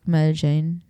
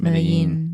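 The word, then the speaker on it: Medellín: in English, it's like Medellin. It's Medellin.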